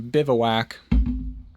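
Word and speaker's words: bivouac: Uh, it's pronouncing bivowak.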